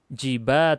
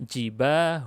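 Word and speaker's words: جباه: bukan akhiran tak marbutah jadi jangan dibaca jiba tunjangan bacanya jibah Hoon Oh begitu berikutnya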